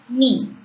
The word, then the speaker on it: nid: Knee. D becomes silent as it comes at the last. The last consonant remains silent as you all know already. So N-I-D is knee.